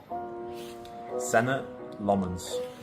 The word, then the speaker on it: Senne Lammens: How would you pronounce your name? Senna Lmens. Senna Lmens.